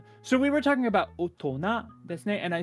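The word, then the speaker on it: 大人: And then the other word is otona. Otona means adult. Boring. Now, some kanji don't really get their sound from the kanji.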